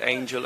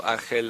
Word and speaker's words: Ángel: Now, fun fact, Malaga City also have a player named Angel as well, or Ángel as it's pronounced here in Spain.